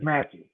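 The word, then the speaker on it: Mathieu: It's Mateu, isn't it? Matthew? Yeah, the way it's spelled is. I know the way it's spelled, but he actually says Matthew.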